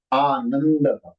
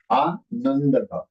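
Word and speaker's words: आनन्द: तो न आधा हुआ because of अनुनासिका. दह. आनंद. आनंद. क्योंकि न के ऊपर अनुस्वार होता है ना, तो वो अनुस्वार निकल जाएगा and it will be replaced by अनुनासिका.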